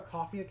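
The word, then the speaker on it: Ko-fi: I have a coffee account as well. It's spelled KOFI, and it's if anyone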